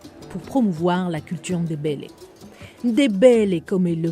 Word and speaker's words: Ndébélé: Ndébélé, comme il le prononce, c'est le mot qui revient le plus chez Ma Esther, son peuple.